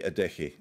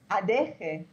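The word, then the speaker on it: Adeje: How do you say Adeshi? I say it like an H with a little bit of guttural throat. Adeshi. Yeah. Adeshi. It's funny, actually, because it's like the Germans pronounce it Adeshi.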